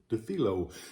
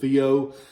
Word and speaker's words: Dufilho: Dufilho. You hear it pronounced and mispronounced several different ways. I've always called it Dufilho.